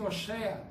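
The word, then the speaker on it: הושע: Em hebraico fala-se Oshea.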